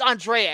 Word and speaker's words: Andrea: Batman's alter ego, millionaire Bruce Wayne, is about to get married to lovely Andrea Beaumont, who it's Andrea, excuse me. That's how it's pronounced in the fucking movie.